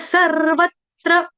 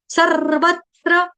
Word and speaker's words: सर्वत्र: जो सी जैसा है इसको बोला जाता है रफार वाला र रेफ वाला र इसका मतलब है इस र का उच्चारण हमको आधा करना है ये आधा र है आधा र सर्वत्र सर्वत्र अब व के